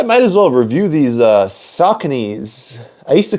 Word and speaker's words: Saucony: Oh, you mean the Sauconys? And he's like, no, like the Sauconys, yeah, like those. And I'm like, oh, that's how you say it.